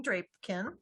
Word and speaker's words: Drapkin: This morning, we're going to learn about the Restaurant Revitalization Program presented by Drapkin with the small business. Rhymes with napkin.